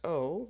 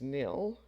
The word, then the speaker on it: zero: and this is 0.5% sometimes zero is pronounced o like the letter O and this is often